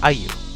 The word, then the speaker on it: AEIOU: to name the astronaut AEIOU, pronounced Ayu, after one of their favorite things to make him say.